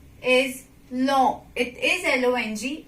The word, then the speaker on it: long: G you will not, apart from H, you will not pronounce it at the end of word, right? For example, G is long. It is L-O-N-G. It's long, not long.